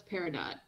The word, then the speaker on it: Peridot: That's Peridot. Yeah. It's pronounced Peridot.